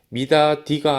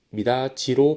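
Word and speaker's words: 미닫이: 두 번째, 업무는 업무의 비읍이 비음인 미음으로 교체되었다라는 점에서 비음화가 발생하였고, 미다지는 미다디가 아니라 미다지로 발음된다는 점에서 역시 첫 번째와 같이 국외음화가 일어난 단어라고 볼 수 있습니다.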